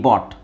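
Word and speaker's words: bought: ಯು ಜಿ H sari U ಜಿ H silent ಆಗಿರುತ್ತೆ ಬಿ ಓ ಟಿ ಬಾಟ್ ಬಾಟ್ ಹಾಗೆ ಇದು ತೆಗಿಬೇಕು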